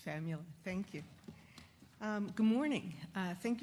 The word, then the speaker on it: Famula: Please, you'll correct my pronunciation if need be, and thank you. Yeah, it's Famula.